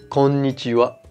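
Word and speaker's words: こんにちは: qu on y croit quand ni tiwa et non pas qu'on y fera plus jamais ça ok ah oui et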